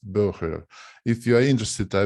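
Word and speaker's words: Boehrer: And I found out that it's a Dutch surname and that it should be pronounced Burger.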